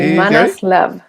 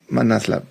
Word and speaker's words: ManasLab: Nos acompaña Gabriela Sánchez, que es founder, actualmente es founder y le consultan en Se pronuncia bien Manaslab. Es así. Manaslab. Manaslab s.